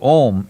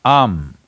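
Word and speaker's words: Aum: Because you're Omarion, there is also Ammeri, it is not to be said as Om, it is Am. It is just three sounds.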